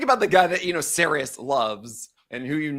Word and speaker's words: Sarris: I'm like, is it Sarris? He goes, yeah, you've been mispronouncing my name the entire time.